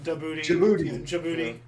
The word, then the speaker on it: Djibouti: Africa um yeah yeah the pronunciation is rather unfortunate like you know Djibouti Yeah country yeah it's kind of like gin yeah like yeah yeah